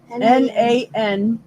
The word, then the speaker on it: Nanticoke: Nanticoke. No, Amazon man. Like a nanny, Nant. Yep. I, and then Coke, Coke.